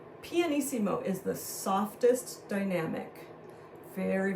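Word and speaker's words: pianissimo: first thing okay and that PP stands for panimo so let's write that together p i a n p n eimo i s s i m o panimo is the softest Dynamic very very very quiet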